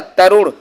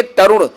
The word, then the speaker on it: तरुण: तो तरुण को कैसे लिखा जाएगा भाई, इसका सही उच्चारण और शुद्ध उच्चारण ए हो जाएगा, तरुण। ठीक है, छोटा ऊ है भाई, याद रखेंगे, तरुण।